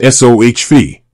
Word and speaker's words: SoFi: say website they explicitly state that the correct pronunciation is s Fe think soft with a long l sound followed